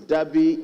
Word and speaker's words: Deby: His Deby is spelled D-E-B-Y. There's no R. There's no R in his Deby.